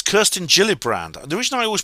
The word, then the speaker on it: Gillibrand: the get the Gilly brand Amendment it's Kirsten Gilly brand the reason I always pronounce Kirsten gillibrand's name Kirsten gillibrand is I'm